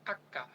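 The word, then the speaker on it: acca: ভাষায় শুধুমাত্র লেখার সময় লেখে ইতালিয়ানরা এটার কোন উচ্চারণ করতে পারে না ইতালিয়ানরা এটাকে বলে আক্কা কি বলে বলেন তো দেখি আক্কা হাক্কা হাক্কা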